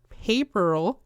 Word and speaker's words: Paperl: The Paper Girls' usernames are paper puns, so they are pronounced Paperl and Paperina.